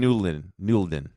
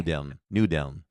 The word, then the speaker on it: Nudeln: No idea how to pronounce this one, but it is a pasta. Oh, that's Schinken Nulden. Because I order it every year. Schinken Nulden. Okay. Nudeln.